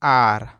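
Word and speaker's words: are: क्या होता है कि अगर किसी भी वर्ड में अगर लास्ट में ई होता है तो ई साइलेंट होता है, यानी कि इसका प्रोनाउंसिएशन नहीं करते हैं। तो ए को यहाँ आ पढ़ेंगे और र को आर, तो ये हो जाएगा आर।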